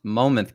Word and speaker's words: Monmouth: I learned it's pronounced Monmouth County, not Monmouth. The N is silent.